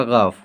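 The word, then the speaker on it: گ: ये हो गया आपका गाफ। इसका उच्चारण क्या हो जाएगा, गा।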